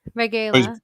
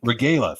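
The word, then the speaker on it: Regla: I don't know how to pronounce the last name. Regala, I think. Regala, thank you.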